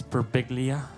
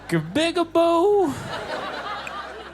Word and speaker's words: Birbiglia: John got my last name right. It's Birbiglia. Everyone gets it wrong. When telemarketers call, they'll be like, "Good afternoon, may I speak with Mr.?" Oh, man. Birbigaboo. So I just have to spell it on the phone like it's B as in boy, I-R, B again, I-G-L-I-A.